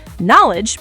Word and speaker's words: knowledge: If you see KN at the start of a word, the K is always silent.